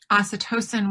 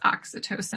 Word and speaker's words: oxytocin: happens in our body we release you know acetosin when i think it's pronounced oxytocin actually i've been pronouncing it incorrectly but when